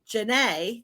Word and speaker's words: Janneh: We're back again, this time with Janneh.